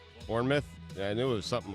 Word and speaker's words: Bournemouth: entire time because I've heard of vermouth right but this is Bournemouth right Bournemouth and it was something